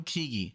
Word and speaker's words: Keaggy: this is Google Phil keagy okay so Phil kigi because sometimes I just don't know how to pronounce stuff so it's so cheeky and um